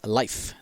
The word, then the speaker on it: Leif: pronouncing his name is not leaf it is life that's how you pronounce it life is life actually i